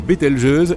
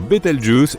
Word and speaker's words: Betelgeuse: supernovas pour le moment quant à la manière de prononcer correctement bettelgeuse tu peux le faire comme bon te semble tu peux même dire betal juice si tu en as envie la supernova 1987A a